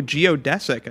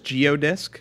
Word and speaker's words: geodesic: I just saw geodesic I I mispronounced that as geodisk when I started making graph Theory lessons I kept calling it a geodisk that's what I thought the word was somehow I just like miss seeing it I I perceive the word as geodisk and I just mispronounced it all the time trying to correct that